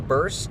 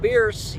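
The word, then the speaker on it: Bearse: Stephen Jeffries was here again this time, but we also got to meet Amanda Burse, and it's not Bierce. She corrected us. Yeah. And pronounced like purse.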